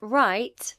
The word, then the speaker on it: write: In right, the W is silent.